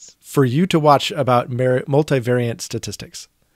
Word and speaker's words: multivariate: you to watch about multivariate statistics. I think it's multivariate, not multivariant. There's no N.